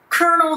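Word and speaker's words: colonel: kernel で伸ばされますね。この kernel に似ている発音で KFC の kernel Sanders がいますよね。ヒゲのおじさん。この kernel も同じ発音ですね。kernel.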